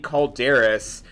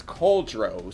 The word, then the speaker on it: Cauldros: And um now saying it in its correct pronunciation, it's cauldros.